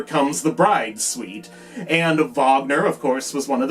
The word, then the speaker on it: Wagner: got that wrong and they kept mispronouncing his name on the show too they kept calling him Wagner but I mean that's uh we have Vagner is a very common